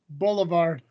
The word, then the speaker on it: Boulevard: bubble bubble Ard whatever silent B Boulevard I said it with a V it just sounds like a b did you yeah you're